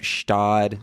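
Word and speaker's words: Gstaad: if you look up stodd Switzerland I didn't spell anything in Switzerland it's G oh it's oh you have it you know it the G silent Scott is g-s-t-a-a-d it's spelled insane so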